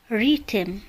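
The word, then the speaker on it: rhythm: وحرف الإتش إذا جاء قبله حرف الآر فإنه لا ينطق، مثال ريتم ريتم.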